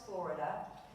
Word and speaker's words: florida: The two best known and most popular dogwood types are cornis florida known as the flowering dogwood and pronounced just like the state of Florida.